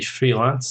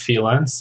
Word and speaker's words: freelance: Sorry, that should be freelance, not freelance.